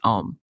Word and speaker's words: OM: Oh yeah, OM, sorry, they call it orgasmic meditation, OM, pronounced OM, like the familiar mantra you might hear in like a yoga class, which was not, I think, a coincidence.